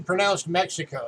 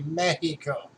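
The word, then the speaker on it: México: pronounces the beat Oklahoma say Mexico Mexico's not actually pronounced Mexico it's actually supposed to be Mackey Co so the axe is supposed to be pronounced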